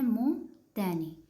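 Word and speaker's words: montagne: मोतनी मतलब जी एन है तो नी आ गया और ओ एन है ओ एन हमने पिछला रूल देखा था जिसमें हमने एग्जांपल ली थी बी ओ एन की कि इसको हमने बोन नहीं पढ़ना ब पढ़ना है तो इस वजह से इसको हमने मो पढ़ना है मोन नहीं पढ़ना ठीक है मो तैनी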